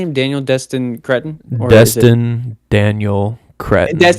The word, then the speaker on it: Cretton: Daniel Destin Destin Daniel Daniel Cretton Dustin Daniel Destin Daniel Daniel Cred.